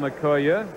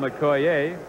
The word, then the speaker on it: Okoye: Some call him Okoye, some call him Okoye. He has his somewhere in the middle, doesn't he? When we asked him how he pronounced it.